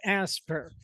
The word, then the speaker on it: ASPR: and response or aspr does that have like a way you pronounce that like aspirate or anything Ashbury okay as a supply chain consultant with asper so asper leads the